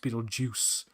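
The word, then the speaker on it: Betelgeuse: then it's like oh it's Beetle ju it's pronounced Beetle Juice uh so yeah they uh they just know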